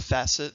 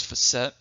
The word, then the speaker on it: facet: about that later on a facet some people pronounce this word as a facet that's okay not incorrect but more commonly you're gonna hear pronounces Fassett and this is a flat surface of a